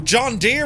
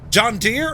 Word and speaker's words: John Deere: John Deere or John Deere? Nothing rides like a deer.